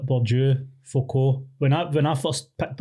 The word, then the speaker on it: Bourdieu: So like Bourdieu, Foucault. When I first picked up their books, I was calling them Bourdois.